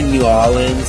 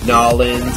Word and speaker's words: New Orleans: people say crayon crayon New Orleans some people say New Orleans or nans or New Orleans it's just I don't know or new or New Orleans it's just New Orleans that's how I say it uh con some some